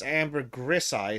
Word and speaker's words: ambergris: don't you say that but Amber Greece is actually one of the names as in the word amber plus the word Greece as in uh right I see oh yeah and from in Latin it's Amber grisai so yeah there's definitely an s in that ambergris good enough foreign aluminum